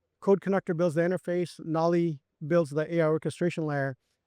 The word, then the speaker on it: Knolli: We actually have another product called Nolly. Nolly is the AI orchestration layer.